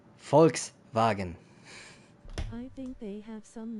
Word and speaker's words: Volkswagen: The way Americans say it, Volkswagen. It's Volkswagen.